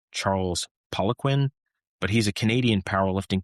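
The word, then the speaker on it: Charles Poliquin: I think the pronunciation is Charles Poquin, but he's a Canadian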